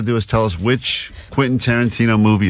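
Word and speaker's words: Quentin Tarantino: Quinton Tarantino movie and she's never successfully pronounced Quinton Tarantino that's true all week as she's been talking about this prize we have she's been saying quasa qu Quon qu Tanana qu Tanana so we're like what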